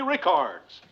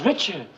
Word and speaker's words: Richards: Her name is Richards.